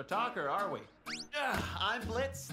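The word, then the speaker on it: Blitzø: are we yeah I'm Blitz the O is silent now I'm sure we're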